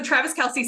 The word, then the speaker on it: Travis Kelce: So Travis Kelce. So we had it right. Some song lyrics to her next song after they break up. What will her song be about? Travis Kelce.